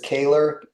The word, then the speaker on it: Koehler: Folks, you can find, last name is Koehler, and that's how it's pronounced.